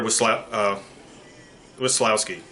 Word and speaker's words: Weslowski: And now I introduce Tyler, and I mispronounce his name, unfortunately, but his name is Tyler Weslowski. And I ask him to explain who he is and what he does. He says his name is Tyler Weslowski.